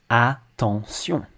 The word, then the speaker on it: attention: Things like a word like attention, again, written the same in French and English, attention, attention. If you pay attention, you'll notice that the A and the O are pronounced the same in English. Attention, a-n, a. Whereas in French, it's attention, attention.